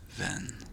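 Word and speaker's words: venn: As you can hear the sound is von a sound van. A friend is then. So if you are new to Norwegian, this might be very difficult because van is very close.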